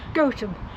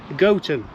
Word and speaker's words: Gotham: here who's going to give us the exact pronunciation of this village. Gotham. Gotham. But I bet it gets called all sorts of things, does it? Yes. Yeah, I can't think why, but Gotham. yeah. But Gotham is the official pronunciation.